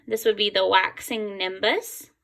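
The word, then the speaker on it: gibbous: This would be the waxing nimbus. It's kind of a weird word, but that's how you pronounce it, waxing nimbus.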